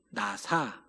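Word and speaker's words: נָסָה: 단어가 나오는데 자막을 보시면 히브리어로 나사 라고 읽는 단어입니다 나사 시험이라는 단어인데요 이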